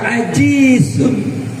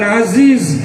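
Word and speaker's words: عزيز: Perkasa Aziz Maha apa banyak orang yang baca ajizun Ajiz pakai Jim bukan Aziz tapi Aziz Apa artinya lemah Ajus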